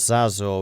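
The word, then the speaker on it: Xazor: And then the other one I wanted to know was Zazor, which I think is this province? No, it's Denmark. How do you spell it?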